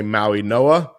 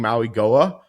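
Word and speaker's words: Mauigoa: And I've seen a lot of reporters mis mispronounce his name. Apparently they say Maui Noah. I saw a video of him saying Maui Goa.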